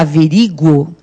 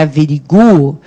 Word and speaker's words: averiguo: Quando a pessoa fala averigo, e a gente acabou de ver que é averiguo, ela está fazendo confusão com o quê?